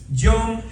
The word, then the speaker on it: Yom: Se escribe Y o la Y o M. Yom, que es como se dice día en hebreo. Cada vez que usted diga Yom, diga conmigo Yom. Está diciendo día. Día en inglés, perdón, día, ¿cómo se dice en inglés? Day. En español, día. En hebreo, Yom. Y o M, Yom.